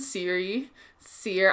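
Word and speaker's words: Cere: you have mom friend Seer. I called her Siri for the first half of the game until I found out that her name was Seer. Nobody pronounced it, so I didn't know.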